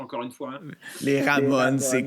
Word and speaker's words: Ramones: Pardon pour la prononciation, encore une fois. Les Ramones, c'est correct.